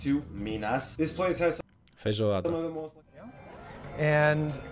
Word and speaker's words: feijoada: How to pronounce feijoada, słuchajcie, zaraz się dowiemy.